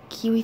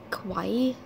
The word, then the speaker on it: kawaii: like a little makeup kiwi thingy oh these are so kiwi i mean kawaii kawaii chen kawaii that's how you pronounce it kenya dude you know